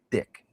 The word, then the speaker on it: Dyke: And Dick being spelled D-Y-K-E like Dick Van Dyke, but pronounced Dick.